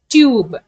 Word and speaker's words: tube: So if we add E at the end, the total pronunciation of the word changes. That is, in the sense, E becomes silent and the vowel around it says its longer name sound. Okay. T, U, B. So the letter is U. So T, U, B. Tube. As the E becomes silence, you have to pronounce this word as tube.